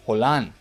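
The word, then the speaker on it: Haaland: hold on that's how you say it Erling hole on the 87 rated inform version of his card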